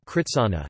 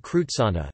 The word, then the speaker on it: กฤษณะ: from Sanskrit such as Kivsna kritsana, not krutsana, Vithi rit, not ruit, and Kivsda kritsada, not krutsada, for example.